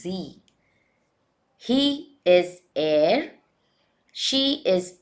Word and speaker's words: Sie: We pronounce it as Z.